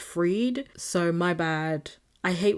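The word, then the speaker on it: Bankman-Fried: in the Forbes episode I kept saying his name as fried but it's actually pronounced freed so my bad I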